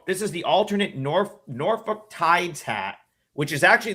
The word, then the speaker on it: Norfolk: of the country, but apparently you don't say folk. So, I got corrected by a whole bunch of people after I posted my video that I've been saying it wrong this whole time.